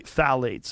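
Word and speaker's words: phthalates: the introduction of phalates it starts with a p p t h a l a t s I think it's how you spell it you say phalates and phalates are a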